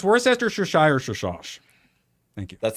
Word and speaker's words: Worcestershire: Worcester, no, it's pronounced Worcestershire.